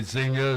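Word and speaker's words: Xenia: Now you indicate you have a place in um Chicago and you're in a small town in southern Illinois, Zena. Is that the the way you pronounce it?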